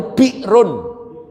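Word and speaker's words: بئر: Bacanya itu Bi'run. Bi'run itu sumur, bahasa Ibraninya BR, bahasa Hebrunya BR.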